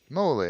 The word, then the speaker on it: Moly: Moly, there's the pronunciation. Moly, gotta remember that.